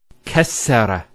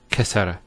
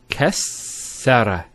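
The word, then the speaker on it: كسّر: Kassara instead of kasara. So once again, there's the kaf, followed by 2 sins, and then the ra. So kas, sukune, sara. Kassara, not kasara.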